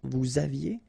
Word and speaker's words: vous aviez: Vous aviez, a Z at the end, et, aviez, and then liaison, vous aviez.